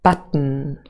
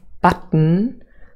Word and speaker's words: button: look at an example here is a word button so this word consists of two syllables but and then um and the second syllable really is a syllabic consonant so the main sound